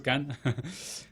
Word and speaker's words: Cannes: Porque yo comencé a investigar sobre él y vi que ya había ganado Cannes. Tú vas a corregir con el acento francés. Sí, está muy bien pronunciado, de hecho, Cannes.